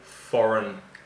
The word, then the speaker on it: foreign: It's all foreign currency. And be careful of the pronunciation of foreign because the spelling is a little strange.